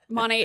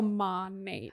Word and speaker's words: Monat: People say it different all the time, but Monate, it's Modern Nature is like the actual name. So Monate.